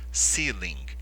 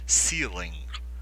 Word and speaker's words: ceiling: Como é escrito e a pronúncia é essa seing ceiling o g ele é quase que inaudível tudo bem e você força um pouquinho a garganta ao falar ceiling ceiling low ceiling tá bom